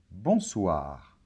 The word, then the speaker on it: bonsoir: mots en français donc c'est pas bon soir non bonsoir d'accord bonjour très bien alors une chose importante c'est pareil que pour bonjour bonsoir c'est criant un seul mot et il n'y a